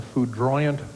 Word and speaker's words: foudroyant: Norbert gazed in awe at the foudroyant fireworks display.